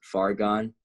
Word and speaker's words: Fargon: SoundCloud is Fargon, FARGON 3. Fargon 3. So it's like, it's far gone, but it's spelled like argon gas with an F, right?